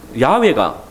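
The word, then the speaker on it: 야훼: 여호와라고 하셨습니다이 뭐 아시겠지만이 여호와라는 이름은이야 야의 아도나이 그 모음을 붙여서 어 그렇게 읽은 것입니다 그래서 어 야외가 바른 발음입니다 야의 뜻은 뭡니까 우리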